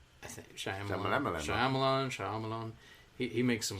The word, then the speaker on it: Shyamalan: movie better writing better directing um you know Shyamalan I love Shyamalan but he say his name I think sh Shyamalan Shyamalan he he makes some Clunkers like after